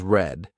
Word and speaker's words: read: Read is pronounced as read which is in present tense while read is pronounced as red which is in the past tense.